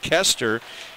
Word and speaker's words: Koster: It's spelled Koster, pronounced Kester.